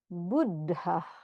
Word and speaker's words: Buddha: When there's a double consonant, you kind of land a little bit longer on your double consonant. So it's not just buddha, it's buddha, buddha. Kind of like you stop here and then you start here again.